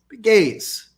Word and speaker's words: Pegues: My mother made my father change the pronunciation of his name because she wasn't comfortable with it. She thought it sounded like little piggies, so she didn't like it.